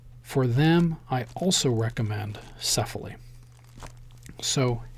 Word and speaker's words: Cefaly: do an unboxing of sefa lee now before we actually get to the unboxing many of you may not know what sefa lee is sefa lee is spelled CEF a ly and it is an